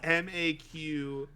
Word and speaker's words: Maquette: It's Maquette. How do you pronounce that?